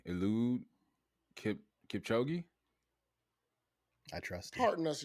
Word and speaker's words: Eliud Kipchoge: Eliud Kipchoge.